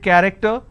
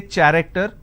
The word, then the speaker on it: character: So you see the word character, I have the letter CH and it's pronounced as K. I don't say character, I say it character.